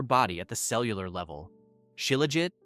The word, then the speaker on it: Shilajit: Chilleit, pronounced Sheila, is the scientific name for what ancient Sanskrit texts called the destroyer of weakness.